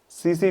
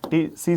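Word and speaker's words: tsetse: T silent रहता है। सी सी ये टी साइलेंट ये टी साइलेंट। टी सी सी फ्लाई। ठीक है? टीसी टिसी फ्लाई नहीं कह देना। सीसी फ्लाई होता है।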